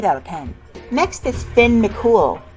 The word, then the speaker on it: Finn McCool: next is finn mccool no i'm not making it up that's how it's pronounced doi says this design